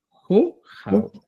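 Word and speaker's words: qoqaw: Y la expresión correcta va a ser jujau.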